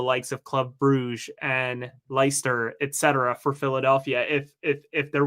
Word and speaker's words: Leicester: They just had someone go to Feyenoord, who ultimately finds himself in Leicester, or Leicester. Thank you. My pronunciation's not great.